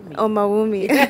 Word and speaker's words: Omawumi: um omal with me but how do you pronounce it Oh mommy thank you so much thank you thank you